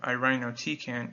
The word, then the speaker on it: irinotecan: Kempo decent analog an easy way to remember the pronunciation of irinotecan is i rhino tea can irinotecan irinotecan is mainly indicated